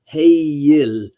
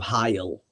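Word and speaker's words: heill: say, German is that the EI does not make a long I sound. It is pronounced with the E and the I combined together in a diphthong as Heyil instead of Heil.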